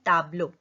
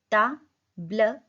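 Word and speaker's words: tableau: Board को बोलते हैं ताब्लो. ताब्ल. ई यू का साउंड होता है ओ. ताब्लो. ताब्लो.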